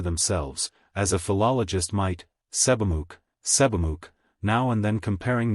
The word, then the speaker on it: Sebamook: Joe answered Sebamook, Tomant pronounced it Seebmook.